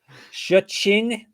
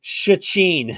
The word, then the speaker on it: Szczecin: Szczecin. How do you say it, Gumby? Say the city name. I don't even know where they're fighting. I don't. Internally, the way you're saying it's not helping it. Szczecin.